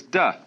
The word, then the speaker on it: Te: leot to be initiated the next word is Du because again there's no apostrophe after the T so it's pronounced du and Jing there is